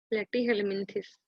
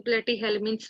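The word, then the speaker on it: Platyhelminthes: प्लेटीहेल्मिन्थिस, या तो प्लेटीहेल्मिन्थ्स भी बोल सकते हैं, प्लेटीहेल्मिन्थिस भी बोल सकते हैं। ये इसमें कोई बहुत डिफरेंस नहीं है।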